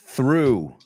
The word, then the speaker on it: through: Through. Que suena exactamente como el pasado de lancé, de lanzar, ¿no?